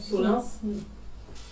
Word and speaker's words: solins: L'église Saint-Martin, 10 000 euros pour les Solins, c'est comme ça que ça se prononce, Solins, et les études, donc 10 000 euros.